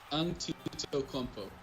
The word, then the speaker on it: Antetokounmpo: Yeah, it's Antetokounmpo. Antetokounmpo. Antetokounmpo. Like 5 syllables. Antetokounmpo.